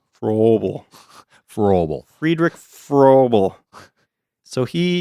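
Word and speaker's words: Fröbel: How do you pronounce that O with the two dots on top of it, Paul? You took German. Yeah, it's like a long vowel. You said pretty well. Froebel. Froebel.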